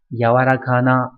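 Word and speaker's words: 柔らかな: Âm khương yomi giống hệt như chữ nhu ở trên, đọc là yawarakana hoặc là gì nhỉ, yawarakai đúng nhỉ, nghĩa là mềm xốp.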